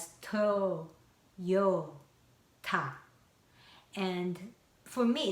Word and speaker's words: Toyota: I learned that American people divide it as toy, yo, like O, but then kind of connected to this Y sound, Toyota.